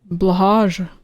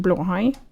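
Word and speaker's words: Blåhaj: Yeah, just say blahage. Blahage? Actually, it's pronounced blahai.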